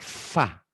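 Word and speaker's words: ف: Padahal fa. Ya, P. nggak ada P. Fa. Kalau orang Arab pinter ngucapin F. Karena tidak ada P. F. Kalau orang Sunda P gitu kebalik-kebalik. Jadi ini F. bacanya Fa. fa.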